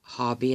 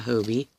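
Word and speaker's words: Hobbii: Since we all say it wrong, it's Hobby and not Hobie.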